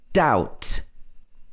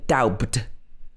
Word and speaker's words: doubt: to talk about is when you have a b followed by a t and in this kind of situation often the b is not pronounced for example doubt we don't say doubt we say doubt doubt are arsenal gonna win